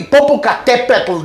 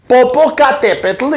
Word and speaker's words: Popocatépetl: The country might be Popocatépetl. That's the way you have to pronounce it. Popocatépetl is not hard, right?